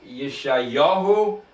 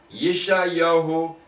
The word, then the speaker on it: Yeshayahu: So they spell it in English Josih, but it's Yeshayahu and Yoshayahu. Yeshayahu and Yoshiyahu.